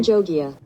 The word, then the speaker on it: Avan Jogia: All right, we have, I don't know how to pronounce this incredibly attractive man's name. - Avan Jogia.